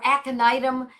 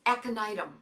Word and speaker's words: Aconitum: So the next one is Aconitum, called sometimes for short aconite, Aconitum. And the beauty of these medicines is that because they're Latin, they are phonetically perfect, very easy. Aconitum, Aconitum, Aconitum, Ignatia, Ignatia.